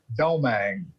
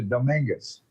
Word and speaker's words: Domingues: Growing up until I moved to Houston, my name was Mark Domingue, with the French pronunciation on it, Domingue. And moved here, culture shock, it's actually Domingues, which it really is a Spanish name.